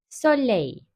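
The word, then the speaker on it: soleil: s harfinin telaffuzuna Bakalım eğer kelimenin başındaysa s olarak okunuyor sley Soley Eğer iki sesli harf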